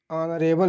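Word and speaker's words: honourable: यहाँ पर एन ऑनरेबल लिखा हुआ है, यहाँ पर एच भले है लेकिन इसका उच्चारण आ की तरह हो रहा है, इसीलिए यहाँ पर एन लगा हुआ है।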